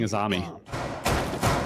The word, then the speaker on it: Azami: I don't know where it came from, but it's not a U. It's an A. It's I have no idea regional how Azami dialect. gets to Azumi.